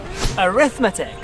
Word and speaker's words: arithmetic: travel answer to answer syllable words in English tend to put their main stress on the third syllable from the end arithmetic so in this case we count the syllabus from the end a rhythmat tech arithmetic now where do I